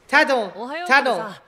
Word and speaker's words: Tadano: Tadano.